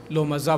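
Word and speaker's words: لمزة: लुमाजा, बस यही है! तो यह इस प्रकार है ऐसा कहा जाता है: "लो "माजा." यहाँ लोमाज़ा नहीं, लुमाज़ा सही है।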